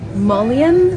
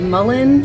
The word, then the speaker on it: mullein: You can use mullein, or mullein, some people pronounce it.